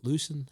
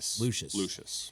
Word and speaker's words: Lucius: And then his son, Lucian, how do you say his name? Lucius.